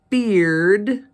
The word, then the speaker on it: beard: together H because bear makes a long a sound and the beard makes the long e sound just by adding a